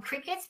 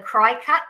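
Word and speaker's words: Cricut: again this is I I can't call them crickets because a cricket to me is a game you play and it's not spelled like I call it a cry cut because to me phonetically that's what it sounds like but anyway but if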